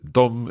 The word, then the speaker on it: de: And the dom is spelled D-E, correct?